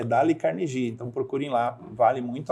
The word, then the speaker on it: Dale Carnegie: que se escreve né É dale carnegie a gente lê o deio carne Né verdade mas é d carnegie então procurem lá vale